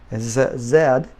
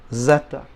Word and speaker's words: zeta: Z and I was in Canada for a while Zed but in Spanish Zeta okay so now let's